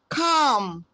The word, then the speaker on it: calm: Palm, calm, letters AL. Letter L is silent.